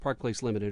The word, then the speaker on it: Parkplace LTD: Parkplace LTD and it's it's pronounced Parkplace limited right correct yeah so